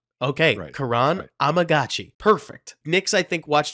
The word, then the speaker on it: Kiran Amegadjie: Yale whose name I'm gonna let Nick whan pronounce so Nick how do I say this it's Karan amaji Kuran so it's not Kiran okay Karan amagi perfect Nicks I think watched a little more